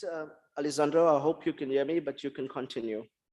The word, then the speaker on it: Alessandro: we're going to introduced the first speaker Dr Alessandro masses and I think I pronounced his name right all the way from